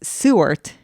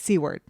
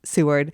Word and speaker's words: Seward: but I say it's c word the whole time I'm a name butcher just putting that out there and so people have corrected me it's spelled like c word right but it's pronounced Seward so um so we